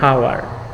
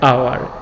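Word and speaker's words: hour: এখানে এইচ অনুচ্চারিত আছে, আমরা কখনো উচ্চারণ করি না হাওয়ার, এটা হচ্ছে আওয়ার, এজন্য আমরা এন ব্যবহার করছি।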